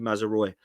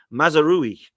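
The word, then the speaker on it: Mazraoui: Munich and I always used to call him mazery but apparently the pronunciation is mazeri and mazeri is linked at the moment currently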